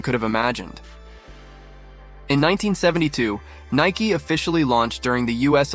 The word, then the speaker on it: Nike: The name came from the Greek goddess of victory, Nike, pronounced Nike.